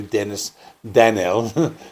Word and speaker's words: Dennis Danell: This is Social Distortion's first album to feature guitarist Jonny Wickersham following the death of Dennis Danell in February 2000. His name is pronounced actually Dennis Danell.